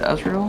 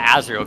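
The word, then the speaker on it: Azrael: Oh, it's totally not Astro, guys. It's not Astro. I've been watching you for a long time. I thought you were saying as for real. How do you How do you pronounce it? Azreal. It's not Azrial, guys. It's like it's like it's like the Undertale character as Toriel's kid.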